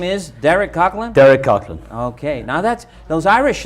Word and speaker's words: Coghlan: so your full name is Derek Coghlan Derek Kirkland okay now that's those Irish names I have